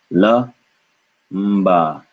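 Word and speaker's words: लंबा: In a similar way, we know what Mr. Bindu is because following Mr. Bindu is ba. And so ba is pronounced with the lips. And so this has to be ma because that's just natural. So this becomes la mba, lamba, lamba, lamba, lamba, lamba.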